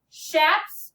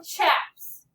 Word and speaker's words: chaps: Okay, before you start, looking at number 2, you can pronounce that word as shaps or chaps. They want you today, for coding purposes, to pronounce it as shaps.